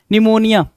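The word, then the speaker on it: pneumonia: next question number 56, 56 क्या कह रहा है भाई, निमोनिया, निमोनिया साइकोलॉजी है ना, निमोनिया और साइकोलॉजी क्या आएगा, तो पी साइलेंट करके देगा, वही चीज दिया भाई,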